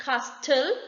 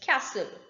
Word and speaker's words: castle: is silent t rule the letter t is not pronounced in the following common words castle it's not castel it is castle it means the place